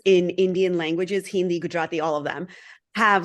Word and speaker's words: Gujarati: So, like, I think Gujarati, it's spelled with an extra A. So it's like the Gujarati. If you cut out that first A, it's almost like you cut out that extra syllable that you're talking about.